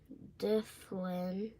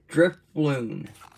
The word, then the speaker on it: Drifloon: Difflin. Drifloon.